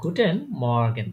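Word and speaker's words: Guten Morgen: করে তারা গুটেন good মর্নিং কে বলে তারা গুটেন মর্গান এটা গুটেন মর্গান হ্যাঁ এটা বানান করেন গে ইউ টে এন গুটেন এম ও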